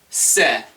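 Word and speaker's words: せ: Se. Se. Like, I'm gonna go with one word because I can't, the other word might be inappropriate for a video. Cellulite, it's kind of pronounced like cellulite.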